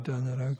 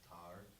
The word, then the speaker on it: tanra: Actually, like the tenho in this verse is actually pronounced teho, and the tanra is actually pronounced tar.